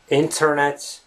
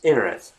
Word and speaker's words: internet: So it's not the internet, it's INNERNET. And it is especially obvious when you speak quite fast, when you pronounce the words slowly, I would imagine even native speakers would say internet, right? If you just pronounce that word individually.